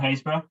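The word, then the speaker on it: Happisburgh: but there's a beautiful beach called Haysborough, and they call it Happysborough, how it's pronounced, but being in Norfolk, we have to spell things differently.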